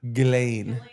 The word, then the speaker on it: Ghislaine: Ghislaine. Ghislaine? Ghislaine. The S is silent, but the two Z's aren't.